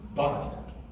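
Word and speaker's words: בת: so now we say say the bait with a hard B sound B then under the bait there's the short a sound which is up and that is followed the syllable is closed with a tough T and so what do you have over here the Hebrew word for daughter is but but B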